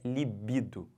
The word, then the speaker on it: libido: quê desejo sexual tesão Tá bom mas a pronúncia correta é libido e detalhe essa palavra é uma palavra feminina